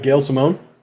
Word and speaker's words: Gail Simone: right of the book yes um Simmon Sim Gail Simone Simone okay she's confused like wait who is